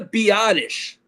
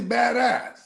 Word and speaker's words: Biadasz: Tyler Biadasz. So it's not actually badass.